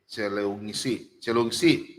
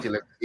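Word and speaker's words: Cileungsi: Ya, Cilengsi. Di sini tulis Cilengsi, jadi Cilengsi ya. Nah, Ya memang nulisnya begitu, tapi bacanya Cilengsi Pak.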